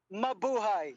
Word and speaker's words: Mabuhay: Mabuhay.